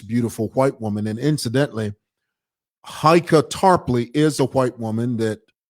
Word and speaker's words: Heike Tarpley: This is how you say her name, Heike Tarpley.